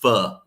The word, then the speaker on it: pho: I think it's pronounced fu, but you know, it's spelled foe, so everybody says fo.